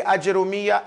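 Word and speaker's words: الآجرومية: means the poor sufi so you can pronounce it with ajim fatah jim bama or jim sukun it's not going to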